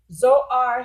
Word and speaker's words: Zoar: Okay, without the H, it's pronounced the same.